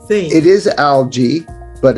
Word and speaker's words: algae: one kind of G and I I say algae what's the correct thing it is algae but it's Al Alo in ter when you